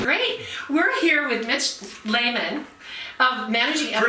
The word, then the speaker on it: Lehman: We're here with Mitch Lehman, managing editor. Pronounced properly, by the way, which it often is not, but Thank it's you very very- good. thank That's you right. very Thank much. you. Layman, not Mitch.